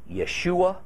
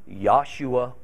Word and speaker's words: Yeshua: yaver Ave Jehovah Jehovah it's all perfectly acceptable perfectly acceptable just as it is to say Yeshua Yeshua or Jesus transliterating ancient Hebrew words